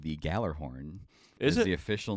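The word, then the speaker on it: Gjallarhorn: Yeah, that horn is called the Galler horn. Is it? The official name of it? Yes. I also have a. Well, I don't like the Galler horn. It's spelled with a G and then a J.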